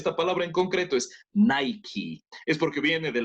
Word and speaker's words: Nike: you know so actually but remember the correct pronunciation of this one is luck just like but Nike all right very good now did you know